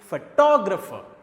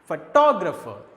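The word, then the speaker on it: photographer: उन 4 सिलेबल में एक सिलेबल को हम स्ट्रेस देंगे टो को, तो इस वर्ड को प्रोनाउंस करते हैं तब आप सुनेंगे फोटोग्राफर, फोटोग्राफर।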